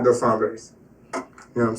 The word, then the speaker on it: Dos Hombres: It was called Dos Hombres. Now, you got to roll your tongue when you say it. Otherwise, you ain't saying it right. But I went to this place called Dos Hombres.